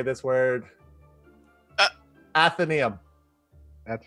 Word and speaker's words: Atheneum: this is how do you say this word athenaeum that's right atheneum yeah the mystic library folks again it is